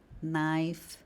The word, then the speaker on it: knife: Toda vez, pessoal, que vocês verem palavras que iniciam com K N, provavelmente o K vai ser mudo. Isso vai acontecer na palavra know, por exemplo. Knee é um outro exemplo. Knife.